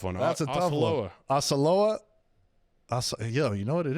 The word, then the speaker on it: Osceola: Oskiloa Magic. Oh yeah, that's a tough one. That's a tough one. Osceola. Yo, you know what it is, Osceola.